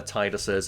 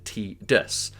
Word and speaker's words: Tidus: version of a trailer Square hired a narrator in Japan who pronounced the name as tus and this led to producers assuming that that was the proper way to pronounce his name in English and again I just